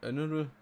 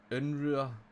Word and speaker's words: Unruh: His name's actually Jason Unruh. Unruh. He's got a German name apparently. So he's Unruh. So he's Canadian, but there you go, that's how you pronounce his name.